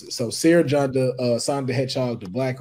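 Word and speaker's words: Cere Junda: Sir Junda. It's C-E-R-E. J-U-N-D-A. Yeah, I spelled it right. I just didn't know how to pronounce it. So Sarah Janda, Sonic the Hedgehog, the Black Ranger, the Mandalorian, Kick-Ass, Kratos, Mario.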